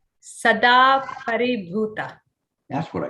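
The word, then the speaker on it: Sadāparibhūta: Is that close enough? Sadaparibuddha? No, I don't know this name. Oh, okay. It's Sadaparibhuta.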